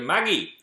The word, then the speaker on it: Magi: it in Japanese so I suppose referring to the show as Maggie is valid because that's how they pronounce it in Japan but in the English dub they might be like hey Magi come over here we don't